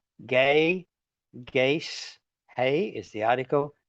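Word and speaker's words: γῆ: Then we've got gay, G long E, gamma eta, gay, gaze, hey is the article.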